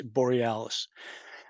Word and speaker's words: Borealis: All right, so that conversation, that sentence right there, that I said his name wrong, it's Borealis.